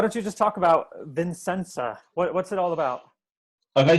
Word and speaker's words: Vissensa: Vissensa. Vissensa.